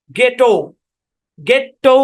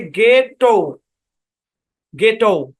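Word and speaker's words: ghetto: এইচ আছে কিনা আছে এইচ টাকে সাইলেন্ট করে দিন শব্দের শুরুতে যেহেতু আসছে তাহলে উচ্চারণ কি গেটও গেটও দুইবার না একই কনসোনেন্ট দুইবার থাকলে একটা কনসোনেন্ট ধরে উচ্চারণ করতে হয় মূলত এই বড়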